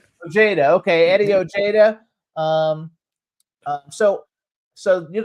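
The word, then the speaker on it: Ojeda: Um they were founded by John Blaze and former Twisted Sister guitarist Eddie O'Hara. Is that how you pronounce his last name? Ojada. Oja. Okay. Eddie Ojada.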